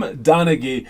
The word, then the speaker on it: Donaghy: gone tim tim donaghy there you go tim donaghy he's the referee very very infamous referee timothy